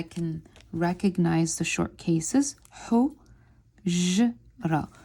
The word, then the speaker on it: حجرة: حجرة. We learned in previous lessons that we don't pronounce the ta marbuta or the circled ta.